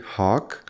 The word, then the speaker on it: Hawke: his name is Gary Hawk Hawk is spelled at its as it's pronounced but with an e at the end if you're curious about